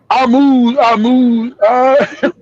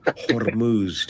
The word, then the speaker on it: Hormuz: Joe Mosquito will spell Hormuz, but he won't pronounce the R.